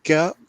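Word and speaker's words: Godt: Okay, we have a comment that says he's not goat. It sounds like goat, but it is spelled G-O-D-T.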